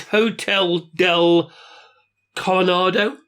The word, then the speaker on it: Hotel del Coronado: Now, the next one, I hope I'm going to say this correctly, Julian, is Hotel del Coronado. Yeah. Which is, you sort of get the... It's surprisingly, you've pronounced it correctly, Michael.